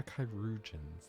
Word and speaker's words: Chirurgeons: Oh yeah, Chirurgeons. That's how you pronounce that word.